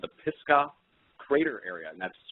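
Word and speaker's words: Pisgah: and I found out it was called the pisca crater area and that's spelled p i s g ah and it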